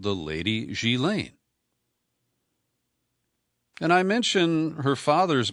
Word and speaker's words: Ghislaine: I used to pronounce it Ghislaine, and that's phonetic. It's spelled Ghislaine, but it's a French name, and it's pronounced in a French manner, Ghislaine. Ghislaine Maxwell, the daughter of